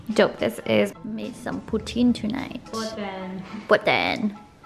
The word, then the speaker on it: poutine: Made some poutine tonight.